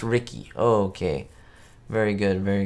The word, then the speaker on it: Ricky: Oh, it's pronounced Ricky.